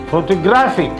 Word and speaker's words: photographic: Then there is photograph, photography, now add IC, photographic. That is full vowel is A, secondary stress vowel is A, no stress is A.